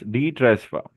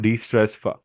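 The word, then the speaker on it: DETRESFA: It's detress fa, not de-stress fa.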